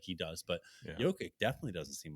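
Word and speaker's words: Jokić: grown to love uh Yoki I I will always say his name wrong just forgive me for that I'm just so naturally say jokic but um you know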